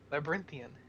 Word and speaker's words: Labyrinthian: Labyrinthian.